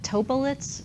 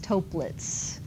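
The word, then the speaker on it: Toeplitz: I keep calling it TOEPlets for some reason, but that's not how it's said. It's TOEPlets.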